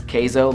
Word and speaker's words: Kaizo: time I always said kaizo cuz I don't know why I think Kaiser just sounds better but my friends are telling me it's kaizo like cheese and Spanish queso like if you just